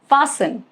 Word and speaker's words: fasten: Rule number one, it is silent in words ending in s D N. Sten for example listen. Okay, s e n. Fasten. It's not fasten.